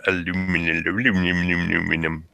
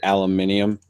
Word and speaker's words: aluminum: Aluminum. I like how you have to fucking train your voice to actually say it that way because you still want to say aluminium. Totally don't. It's aluminum. You and you know what